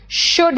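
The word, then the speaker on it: should: two will shall वुड देखो सब में एल साइलेंट है ध्यान रखना कुड है एल साइलेंट है शुड है और वुड है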